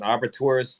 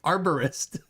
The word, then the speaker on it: arborist: I don't need to be an or whatever it is, an arbitrist or arbiter. Arborist. Like I said, however you want to pronounce it.